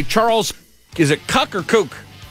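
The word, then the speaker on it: Kuck: But his name is Kook. May be a Kook, but he sounds like Kook.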